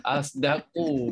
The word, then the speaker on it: أصدق: Asdaqu bacanya macam mana? Bocor. Okey, yang Umi buat tadi, kalimah asdaqu itu adalah bacaan ismam. Sod ismamkan sod dengan dengan zai, itu campuran suara bunyi huruf sod dengan zai menjadikan satu bunyi huruf za.